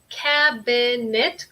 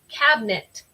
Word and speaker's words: cabinet: Eso es como otra palabra en inglés que tiene lo que nosotros decimos es un dropped syllable. Entonces yo no digo cabinet como de 3 sílabas, sino con mi acento yo digo cabinet. Yo como quito esta I, pero ese es el acento mío.